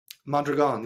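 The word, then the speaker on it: Mondragon: your book is and correct me if I'm pronouncing this wrong mandron mandron yeah that's right okay can you talk about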